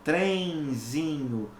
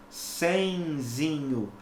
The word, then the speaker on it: trenzinho: o sinal de nasalização a letra n neste caso específico é pronunciada como se fosse uma semivogal e tá então eu digo bem zinho trenzinho trenzinho tá ok as letras n